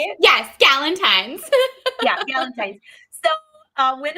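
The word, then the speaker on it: Galentine: gallentine g I still can't say it right gallentine is that how we say it yes gallentine yeah gallentine so uh when and I were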